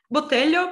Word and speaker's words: Botelho: So the next talk is going to be by Ludmila Botelho. Do I pronounce it correctly? Botelho, but it's okay.